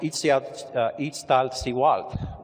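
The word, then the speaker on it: Iztaccíhuatl: in here in the distance followed by it's pronounced ET out each style see wat which means sleepy woman there is a legend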